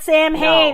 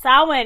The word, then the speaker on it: Samhain: but it looks like it's champagne it's not sam hayne it's my huge pet peeve it's pronounced samhain and it drives me yes hey but in